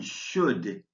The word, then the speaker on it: should: In this scene, the vowel L in should is silent, so I've crossed it out, and the same is true with both the E and the T in listening.